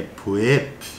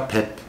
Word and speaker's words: 뵙: Aí, olha essa sílaba esquisita, que é puep, né? Lendo a vogal aí, puep. Quando você fala rápido, vai ficar pep, tá?